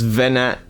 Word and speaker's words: Venonat: Venonat. Yeah, Venonat. Yeah, Venonat. Mate, Venonat. That O is making more work for me, and I don't like it. It's actually adding an extra syllable.